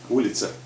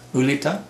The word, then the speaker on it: Улица: Улица. Улица. Улица. Ulita?